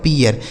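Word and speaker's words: pear: पी से हो गया प, ई ए का उच्चारण ईय हो गया, क्यों, आर है, आर से हो गया र, यह लिखा गया आपका पियर।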